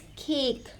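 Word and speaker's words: cake: इनमें क्या होता है कि आपने जो एंड का इ होता है उसको प्रोनाउंस नहीं करना होता। मिसाल के तौर पे वी हैव हियर वर्ड सी ए के ई वी आर not going to speak it एस खेक। इट्स केक home. अब यहां पर हमने क्या किया? ई तो हमने जाहिर है कि हमने प्रोनाउंस नहीं किया बट इनका जो मिड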